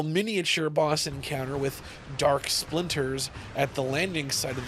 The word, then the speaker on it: Splinters: Sprinters. Splinters.